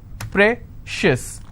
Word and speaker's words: precious: on corn conscious okay precious how many syllables again precious i will stress on pray same thing applies for